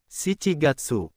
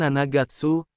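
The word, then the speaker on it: 七月: Juli bukan Nanagatsu tapi si Chigatsu.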